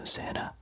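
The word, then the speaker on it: Zannah: Zana, I don't know how to pronounce it, but I think Hannah with a Z, so Zana.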